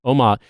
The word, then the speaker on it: Omagh: Omagh.